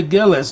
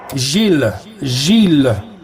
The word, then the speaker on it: Gilles: If you want, you could say Gillis too. Okay, how do you say it in French? Gilles is correct? Gilles. Gilles, yes, Gilles.